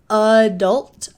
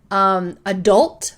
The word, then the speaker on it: adult: I think the most common is adult with the same vowels, but you will hear some variations in pronunciation.